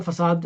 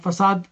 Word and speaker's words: facade: Not the facade fil ard, but facade is how do you spell it?